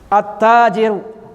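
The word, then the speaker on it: التاجر: At-tajiru. Sukun di atas lamnya tidak dibaca.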